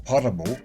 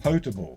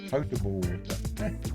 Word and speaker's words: potable: some parts of the water are drinkable or potable which is a new word i just left